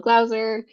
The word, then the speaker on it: Glauser: Hello, I'm Michelle Glauser. It rhymes with browser, and my pronouns are she, her.